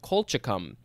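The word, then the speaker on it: colchicum: 1822 an autumn blooming col kolchikum c-o-l-c-h-i-c-u-m colchicom do you have any idea what that is yeah an autumn blooming cold chicken oh yeah you said it perfectly uh i i think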